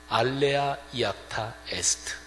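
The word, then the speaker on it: alea iacta est: 당시에 라틴어를 쓰고 있었는데 라틴어 발음으로 하면 알레아 이아타 에스트 그게 바로 주사위는 던져졌다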